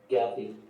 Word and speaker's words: Gatti: How do you say Fordo and Gatti? Gathy. Gathy. Okay.